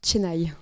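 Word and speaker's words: Chennai: Et dans la ville de Cheny, ça se dit Tenaï.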